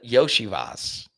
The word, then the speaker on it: Iosivas: Yosavas? Yosivas? No, it's a Yoshivas.